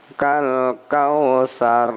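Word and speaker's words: الكوثر: Ada sa, ini bukan sya, bukan sin tapi sa, kal kausar, ya.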